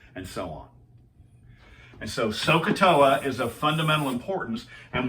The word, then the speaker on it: SohCahToa: And from this is where we get this acrostic, this memory device, which people pronounce SohCahToa. SohCahToa, SohCahToa.